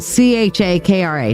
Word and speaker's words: chakra: how that's how it uh that's how it is spelled c h a k r a chakra um it sounds like chakra with s h o c k but c h a k r a chakras okay and basically your solar flexus chakra uh